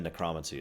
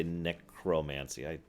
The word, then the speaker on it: necromancy: And yes, I know they say necromancy. I've been saying it that way for a long time, and it's a valid pronunciation, so leave me alone.